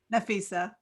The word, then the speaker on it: Nafisa: Nafisa. How you doing? Did I say your Hi, name right? Did I say your name right? It's Nafisa, right? Nafisa.